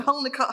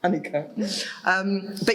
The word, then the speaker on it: Holnicote: And it looks like it's pronounced Holnicote, It does, which I found out by, being an idiot and going there and going, Holnicote House, until someone very kindly, 3 days later, said, actually, it's pronounced Honeycote.